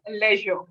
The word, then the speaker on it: leisure: we do have okay the word is Leisure pronunciation is Leisure pleasure pleasure pleasure yes because you have